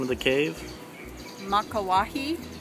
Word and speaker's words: Makauwahi: Top of the, how do you pronounce the name of the cave? Makauwahi. Makauwahi?